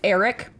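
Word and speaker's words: Ehrich: meant to look this up I think it's Eric wise okay it's spelled very strange it's spelled e-h-r-i-c-h-e-h-r-i-c-h Eric yeah that sounds right yeah and then wise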